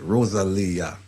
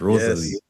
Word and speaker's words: Rosalia: And you you notice how I pronounce it. Rosalia, not Rosalie.